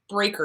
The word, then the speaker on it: Braiker: The Disease to Please by Harriet Breaker, and it's spelled Braiker.